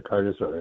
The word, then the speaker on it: Carnosaur: Does it rhyme with dinosaur? It does rhyme with dinosaur, yes. Actually, dinosaur or carnosaur.